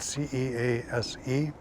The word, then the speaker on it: Suess: Last name is should be spelled C E A S E which is pronounced cease.